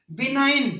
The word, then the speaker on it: benign: है, MALIGN, मेलाइन, गै sound silent, जी sound silent. बिनाइन, दव्य, देवीय, तो BENIGN, बिनाइन।